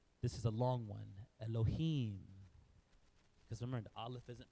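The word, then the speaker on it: אֱלֹהִים: that's the L remember then there's a DOT next to it there so that's the l e that's a e sound Elohim so that's Elohim this is so that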